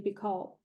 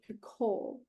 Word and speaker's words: Picoult: Okay, I'm gonna say Jodi Picoult because that's how I would pronounce it. She wrote My Sister's Keeper that turned into the movie with Cameron Diaz. Yes. She did a video that it's Jodi Picoult, I think.